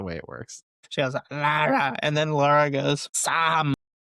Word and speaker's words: Lara: friend though, uh, the Asian chick, she says Laura, though. Well, she probably mispronounced her name, too. Sam. You know, Sam isn't her real name, right? That's just the way it works. She has Lara.